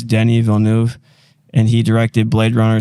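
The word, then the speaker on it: Denis Villeneuve: of my favorites uh I don't really know how to pronounce his last name but I believe it's Denny Villeneuve and he directed Blade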